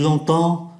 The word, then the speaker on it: longtemps: Và chúng ta để ý ký tự em ở trong chữ longtemps phát âm là n, do bởi nó đứng trước ký tự p. Tu es là depuis longtemps.